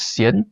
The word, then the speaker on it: Hsien: Yeah, so my first name is Cien. It is spelled as H S I E N.